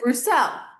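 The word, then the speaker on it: Bruxelles: Uh oh, Brussels. Brussels. Brussels. But they pronounce it Brousel.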